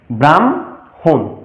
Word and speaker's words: ব্রাহ্মণ: প্রকৃত অর্থে এটির উচ্চারণ হবে ব্রহ্মা এবং ব্রাহ্মণ।